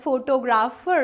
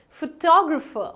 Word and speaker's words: photographer: photographer no not really it's not photographer it's photographer photographer is the right pronunciation where as this word